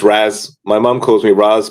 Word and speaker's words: Raz: Is it Raz or is it Roz? It's Raz.